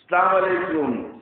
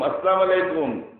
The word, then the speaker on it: আসসালামু আলাইকুম: সালাম আলাইকুম, সালাম আলাইকুম, আসসালাম আলাইকুম, এটা সহি উচ্চারণ হইল? সহি উচ্চারণ হলো আসসালামু আলাইকুম ওয়া রাহমাতুল্লাহ। কিভাবে হবে? এটাকে হজব করে ফেলা, সালাম আলাইকুম। হামজাটাকে স্পষ্ট ভাবে আদায় করতে পার, আস হামজা তিন জবর কি হয়, আস এটাকে শক্ত করে উচ্চারণ করতে হবে, আসসালামু, আসসালামু আলাইকুম ওয়া রাহমাতুল্লাহ। সালাম আলাইকুম এটা হবে কিছু?